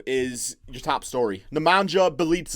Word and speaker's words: Nemanja Bjelica: You know what's rough for the Kings right now when NEMANJA BJELICA is your top story. NEMANJA BEAL'S, I think is actually how it's pronounced.